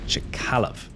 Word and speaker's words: Chkalov: similar to poeta and I believe it's pronounced chalov except it doubles down